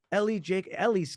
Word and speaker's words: Eli: you're saying Ellie's confusing enough for people because I spell it Eli, right? Right. Right. Ellie, Right. Ellie, not Eli, right?